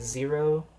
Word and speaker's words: Xero: Another really exciting match happened between Roger Clark and Zero. Zero is spelled Xero instead of with a Z.